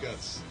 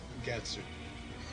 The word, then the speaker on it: Guts: So you have the character named Guts. That is his name, Guts. It starts out as an English word. In this game, they pronounce it Gatsu. And that does not make me happy. In the anime, they just called him Guts.